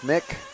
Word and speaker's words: Mick: Not Mike, Mick. It says, I know it says Mike on the thing, but apparently it's a silent E. Well, it would be a silent E anyway, but it's a long I.